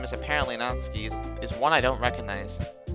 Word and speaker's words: Natsuki: The girl with the sour attitude whose name is apparently Natsuki is one I don't recognize. I know I say Natsuki, but it's actually pronounced Natsuki. I just prefer to say Natsuki.